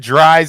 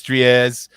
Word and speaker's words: Dries: tins out there but officially i want to pronounce it dries i know it's tries dries your eyes just